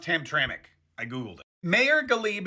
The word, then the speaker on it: Hamtramck: By the way, I know it's spelled Hamtramck, but it's pronounced Hamtramck.